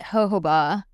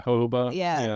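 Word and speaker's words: jojoba: Um, I prefer a unscented I think you pronounce it hooa. Um, J O J. Yeah. Hoba.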